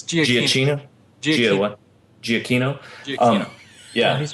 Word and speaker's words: Giacchino: I unfortunately don't know how to pronounce his name appropriately. It's Giacchino.